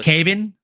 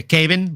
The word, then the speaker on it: Kevin: Brazilian name like Kevin, they pronounce the V as a B. So, it's Caven Vallejo. Oh, Kevin Vallejo. Yeah, Caven Vallejo.